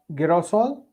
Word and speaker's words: girasol: El girasol. Girasol. He. Like ha.